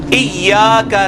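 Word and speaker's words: إِيَّاكَ: पढ़ होते हैं इबस्त इ का तो नहीं है ये इया का है लंबा भी होना है और या के ऊपर तशदीद है जिस हरफ के ऊपर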